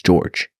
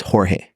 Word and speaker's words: Jorge: And like something that I used to do, was say my name was George. Really? But it's Jorge.